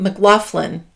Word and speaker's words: McLaughlin: Now, usually, and I know this pretty well, you say that name in that kind of spelling, McLaughlin.